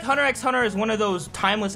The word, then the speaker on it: Hunter x Hunter: comments I know that some people pronounce it hunter hunter because you know the X is silent or whatever but just let it happen but I feel like hunter x hunter is one of those